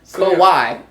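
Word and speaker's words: Kawhi: his name is Kawai it ain't no he at the end just Kawai not Kawai he yes yes it is Kawai no h in there at all yes there's an H in there but it's spelled k a w h i kaai so they don't say hi there kaai kaai kaai yes man this I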